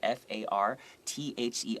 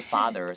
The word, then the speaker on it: farther: And what's the difference between farther, F-A-R-T-H-E-R, 不是爸爸，不是 father, 是 farther, is farther, F-A-R-T-H-E-R, is usually talking about physical distance, okay?